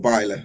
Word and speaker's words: Bieler: I guess it shows the fact that Bieler's maybe fallen out, or Bieler, sorry, I think is correct pronunciation from what you said.